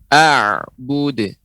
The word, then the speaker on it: أعبد: A'bud.